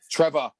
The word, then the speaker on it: Trevoh: Trevor. His name's Trevor. So his name is literally spelled Trevoh. So it's like built in for you to say it like British. Trevor. It's Trevor. It's Trevor Chabala.